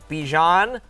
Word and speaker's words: Bijan: all right and then FF uh ball culture Bijan Renaissance tour yep uh yeah you said that